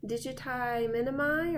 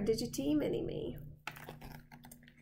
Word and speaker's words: digiti minimi: flexor digitorum brevis and then on the side here I have my abductor digiti minimi (or pronounced digite mini me) And that's it for the lower appendage!